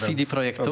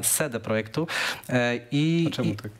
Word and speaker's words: CD Projektu: CD Projektu. Okay. Przepraszam, ostatnio zostałem nauczony, że źle to wymawiam, CD Projektu.